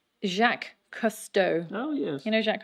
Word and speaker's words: Jacques Cousteau: it we just want to make sure to pronounce its name correctly jacques cousteau oh yes you know jack customer you create